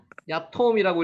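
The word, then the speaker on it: יתום: 고아와 과부, 야톰이라고 읽죠.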